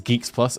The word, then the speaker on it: GX Plus: Is Geeks Plus? Okay, why did these have an X? Fucking Zoomers, man. It can't be Geeks Plus.